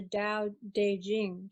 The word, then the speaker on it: Dao De Jing: Yeah, and Nicole's completing her book on the Tao Te Ching.